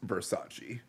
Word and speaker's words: Versace: buys a dress and says thanks it's a Versace and then they laugh for her and they're like uh Versace he's like what it's pronounced Versace I've never seen this movie I've seen half